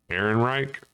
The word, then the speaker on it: Ehrenreich: Yeah, the guy that Alden Ehrenreich, I think is how you pronounce his last name.